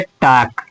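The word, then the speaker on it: talk: अगला है टाक। यानी कि के पहले भी एल आ जाएगा तो उसको भी नहीं पढ़ेंगे। तो इसका हो जाएगा टाक।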